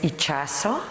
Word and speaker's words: Itxaso: it it's really growing my name is ichaso thank you for the